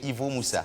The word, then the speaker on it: Ivo Moussa: Ivo Moussa. Est-ce que la prononciation du nom est exacte? C'est exact. Monsieur Ivo Moussa.